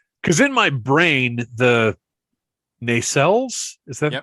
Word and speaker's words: nacelles: And I'm looking now, and there are some pictures where because in my brain, the nacelles, is that the correct pronunciation?